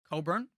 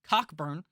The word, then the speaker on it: Cockburn: their star player kofi coburn his name looks like coffee kofi cockburn but that's not how you say it funny jersey to